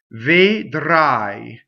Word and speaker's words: vedrai: Vedrai, vedrai. Okay, so that's the first word, and the first E is an unstressed E, so it's closed.